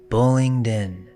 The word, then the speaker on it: Bullingdon: Bullingden. The oldest records spell it Bullsden in 1179.